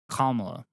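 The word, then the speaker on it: Kamala: pronounce her name correctly am I not saying commo you're saying kala okay I think I'm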